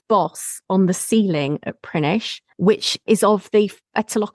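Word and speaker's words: Prinknash: They then travel on towards Gloucester, possibly passing through Prinish, or it's spelt Prink-Nash, but oh yes, I remember that from when we wrote about it. Apparently, it's called Prinish Abbey, which was the country seat of the abbots of Gloucester.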